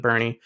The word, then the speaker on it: Boerne: I think I'm finally pronouncing it right this time, Boerne, Texas.